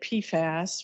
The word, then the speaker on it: PFAS: talk about pfas today I say pfas rhymes with jackass um because there is